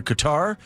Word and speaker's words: Qatar: I think you pronounce it a few different ways, but the fans that I talk to pronounce it Qatar, which is closer to the Arabic.